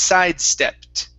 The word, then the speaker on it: sidestepped: The ed ending is produced well when the word doesn't end with a d or a t. Okay, the E is not pronounced in the ED.